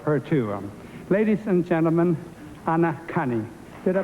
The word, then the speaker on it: Anacani: Ladies and gentlemen, Anacani. Did I pronounce that right?